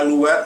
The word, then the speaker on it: Louet: Usually on my Louet or Louet, depending on how you ought to pronounce L-O-U-E-T, I warp back to front.